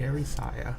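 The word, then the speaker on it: Erysia: Erisaya. But before you had me do like a... That is just how I pronounce it.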